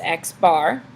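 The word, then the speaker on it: x̄: So we pronounce this x bar.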